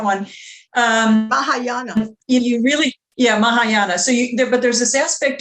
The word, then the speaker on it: Mahayana: you're theravada or maya maya maya how you pronounce that one um you really yeah mahayana so but there's this aspect of discipline and